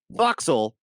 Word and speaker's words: forecastle: Like, there's a part of the ship called the forecastle, but it's pronounced foxle. Like Leicester.